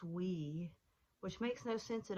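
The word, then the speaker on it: oui: to say yes you say we and it's pronounced we which makes no sense at all well I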